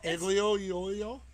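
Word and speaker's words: aglio e olio: you how do you say it again well ugly oh yo yeah it's something in oil it's it's they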